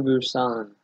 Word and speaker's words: Busan: Train to Busan.